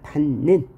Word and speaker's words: 닿는: 히읗 다음에 니은이 왔다. 그러면 닿는의 경우를 보면 먼저 히읗을 뭐예요? 음끝 규칙에 의해서 디귿으로 바꾸죠. 그런데 뒤에 비음이 있으므로 디귿을 다시 비음화 시키니까 닿는 이라고 발음해야 되고요.